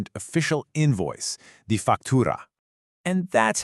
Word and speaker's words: factura: For factura, try to get a little bit of a roll on that R.